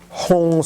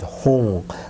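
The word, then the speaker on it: Hung: If you do not know the Tibetan Hong syllable, I think you also can imagine the English word Hong, which is H-U-N-G. Hong, if that is easier for you, of course I think it is.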